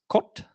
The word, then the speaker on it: CWT: If you go read the spec, you're meant to pronounce this jot, I believe is the correct pronunciation. And this is kot, is that right? Which sounds very Nordic to me, jot and